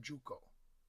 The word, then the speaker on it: Shuko: The Togudo contains a tearoom, the Dojinsai, designed by the tea master Murata Shuko (pronounced Juko).